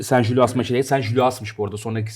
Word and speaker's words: Saint-Gilloise: Sen Jul, Sen Julas maçı, Sen Julias'mış bu arada. Sonraki okunuyormuş.